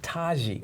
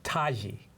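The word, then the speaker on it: Tiki: Her name is Taji. I know, it's a Nubian thing. Taji. It's not phonetically, linguistically how it goes. It's spelled Right. T-I-K-I, but it's said Taji.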